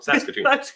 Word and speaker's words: Saskatoon: 44 No, I said it wrong. Saskatoon. You said it just like me.